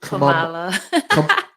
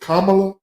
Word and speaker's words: Kamala: Is it three syllables or yes, two syllables? Three. So it's the three syllables.